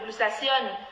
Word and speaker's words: glutathion: C'est ce que le glutathione. J'appelle encore comme ça, il faut maman. bien prononcer, c'est le glutathion. Non, j'ai dit glutathion. J'ai dit en français. glutathion. En anglais, c'est du glutathione.